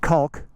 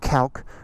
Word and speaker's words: Kalk: I thought it was pronounced Kalk, I think understandably, but it's pronounced Kalk, which I'm told is the Swedish word for